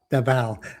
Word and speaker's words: Davao: Davao. I'm saying Dava. Davao.